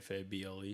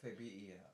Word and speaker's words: Fabel: Just so y'all know, it's not Fable. That's right, Fabel.